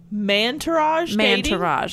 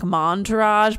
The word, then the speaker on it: Mantourage: what that means first mantourage i know you want to say it like montourage but then it takes its man to rage oh like entourage yes oh like if